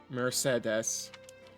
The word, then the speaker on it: Mercedes: Mercedes. Mercedes. You know, that's how you say it. They say it like French people do.